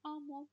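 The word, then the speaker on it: amo: Почему «амо»? Поскольку на гласную заканчивается, значит, на предпоследний слог.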